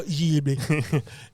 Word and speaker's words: Ghibli: Yeah, Studio Ghibli.